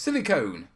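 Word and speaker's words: silicone: bill Tommy it's pronounced silicon as in an ice-cream cone is a silly ice-cream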